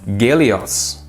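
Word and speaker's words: Гелиос: minus two now um Russia is a bit different so it actually would be pronounced galios 40-2 or whatever 40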